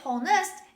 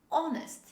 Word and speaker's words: honest: this word don't say whole nest h is not pronounced the correct pronunciation of jesuit is honest honest the letter h is dropped when we say this word say with me honest